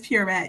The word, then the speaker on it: Pierrette: Is it Pierrette? It is Pierrette. Yes, perfect.